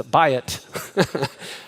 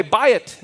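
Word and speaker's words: בית: says what buy it right that's how you pronounce this buy it okay buy it means house all right and if you'll notice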